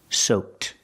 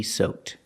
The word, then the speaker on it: soaked: soaked using Ed D pronounced with a t sound soaked he is completely soaked or I can say